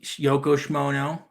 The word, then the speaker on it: Yoko Shimono: and Yoko Shimono.